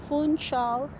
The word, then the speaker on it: Funchal: It's Funchal, Madeira, Portugal.